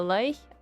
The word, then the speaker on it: Lich: Lich is pronounced like witch.